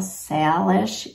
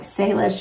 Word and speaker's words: Salish: So one said sail, like S-A-I-L, Salish yarn, and the other one said it's S-A-Y, like Salish yarn.